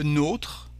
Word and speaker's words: nôtre: Ours, le nôtre. Here, as you can see, there is a circumflex accent here, so the letter O is not exactly the same in French.